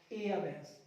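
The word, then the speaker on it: heiress: उसका उत्तराधिकारी बैठता है, इसका जेंडर हो जाएगा एयरएस, ई डबल एस जोड़ देंगे इसमें और पढ़ते समय एच को क्या रखेंगे साइलेंट, एयर एयरएस। अगला गाइस देखो जो रिलेशन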